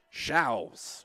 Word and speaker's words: Shows: 1-2 count to the lefty, Anna Grace Shows. Spelled like shows. We got the correct pronunciation prior to the ball game, prior to the broadcast.